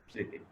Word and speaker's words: স্মৃতি: কখনো কখনো ম অনুচ্চারিত থাকতেও পারে, যেমন স্মৃতি।